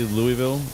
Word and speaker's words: Louisville: Sorry, I always get when you're in Louisville and you say Louisville, people will correct you. It's Louisville. Like, not according not according to uh how this is spelled The the S is silent.